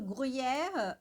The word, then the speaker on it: gruyère: Aqui no gruyère, bom, a gente tem o U, né, então fica gru, gru, gru, gru, gru, gru, gruyère, gruyère. O Y aqui, ele fica meio que separado, né?